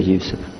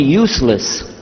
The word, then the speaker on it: Yusuf: Yousef did you say Yousef let me say Yousef very good I wish you teach my wife she keeps mispronouncing it she calls me useless alhamdulillah now how many of you were in